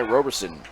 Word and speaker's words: Roberson: now with two outs this will be Ty Roberson Robertson coming to the plate as I said where I'm from that's how you say it's not Robertson it's Robertson that's really how you say it but in my neck of the woods you're Roberson and he's a Blue